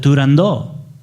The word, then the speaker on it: Turandot: is it seems that puccini and his circle as they were riding this opera called it turando so i guess in a way they own the title they have the copyright well the dallas opera we had a long discussion on this topic and we decided for sake of consistency we all agreed to say toronto but i think part